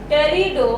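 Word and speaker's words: Pterido: जिन्होंने क्या बताया था, प्लांटिको एल्गा, प्लांट को डिवाइड किया था, ब्रायो, टेरिडो, इसमें पी साइलेंट होता है, जिम्नो एंड एंजियो।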